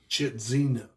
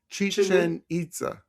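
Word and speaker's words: Chichén Itzá: I was able to go to the pyramids of Chitzina. Oh, I don't know. Chichen Itza. Thank you.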